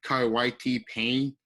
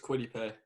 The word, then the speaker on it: Kwity Paye: And 15, Giants would take, I can't pronounce his name, but Kawhi Payne, edge rusher. Kwity Paye. It's just Kwity Paye.